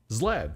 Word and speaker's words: Zlad: people all zlad ZL what did I say zlad it's zlad you said it right zlad yeah yeah yeah